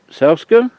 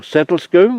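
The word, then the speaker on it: Sedlescombe: In the meantime, prepare yourselves to visit Selscombe or Settlescombe, whichever way you like to pronounce it, and also Breed,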